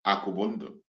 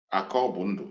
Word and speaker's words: Akobundo: Akubundo, thank you so much. Akobundo, yes, Akobundo, not Akubundo, Akobundo.